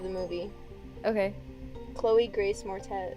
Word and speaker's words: Moretz: movie okay chloe grace mortez morette moretz how do you say her last name more uh moretz yeah that's what i thought is it um dark